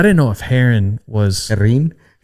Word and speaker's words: Herrin: Herrin? You got to roll the R's and not pronounce the H.